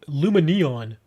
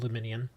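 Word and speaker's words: Lumineon: it's right there luminum I've heard people say Luma Neon I don't know this sounds weird to me it's I just call it luminian all right well I think we're good for now yeah it's spelled neon but it just sounds weird to call it Lumen Neon I just say luminian it doesn't matter same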